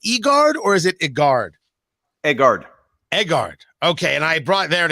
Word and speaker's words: Egard: He is the CEO of, I think I pronounce it Egard. Is it Egard or is it Egard? Egard.